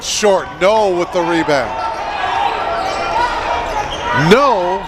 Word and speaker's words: Noe: no with the rebound no he spells his name noe but it's pronounced no 15-foot jumper good by